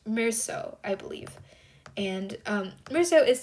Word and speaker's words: Meursault: It is pronounced Meursault, I believe.